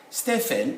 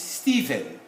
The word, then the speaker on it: Stephen: sound od sound this ph these two would sound as v it's not stefan it's stephen you can say nephew